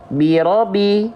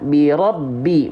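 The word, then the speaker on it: بِرَبِّ: Kalau misalnya ba di sini tidak bertasydid, maka bunyinya akan seperti ini. Birobi. Nah, kalau pakai tasydid tekan. Birobi, bukan ditahan. Ya. Basic tasydid itu bukan tahan, tapi tekan. Oke.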